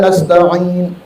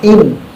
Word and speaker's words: nasta'in: Iyyaka na'budu wa iyyaka nasta'in. Ain, bukan in.